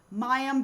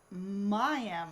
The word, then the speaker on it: Mayim: tried all these different things, and so has Mayim. I'm saying it wrong now. Mayim, though? Yeah, Mayim.